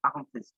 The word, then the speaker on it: accomplished: যে ই লেখা আছে উল্টা করে ই থাকলে ওইটাকে সোয়া সাউন্ড বলে আর ওইটা আ উচ্চারণ করে আর এটা আমাদের এই ডিকশনারি গুলোতে এটা আর্টিফিশিয়াল ইন্টেলিজেন্ট তো অনেক সময় এটা ওরা উচ্চারণ গুলো সঠিক করে না কিন্তু ফোনেটিক্স দিয়ে আমাদেরকে বুঝে নিতে হবে যে এটা আ হবে হ্যাঁ সে কারণে আমি accomplished বলি Bolt is the most